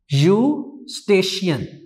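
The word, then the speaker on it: Eustachian: यूस्टेशियन, यूस्टेशियन, ठीक है, इसमें ई साइलेंट है।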